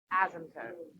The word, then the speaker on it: asymptote: There's not a Z. There's not two S's. There's one. Like the word AS, as.